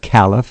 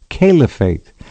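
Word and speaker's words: caliphate: very often and Kate and kff it's not Calif it's calefate you don't hear it pronounced properly uh okay so much for that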